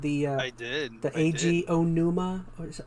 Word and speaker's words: Onuma: The AG Onuma. Or is it Oinu?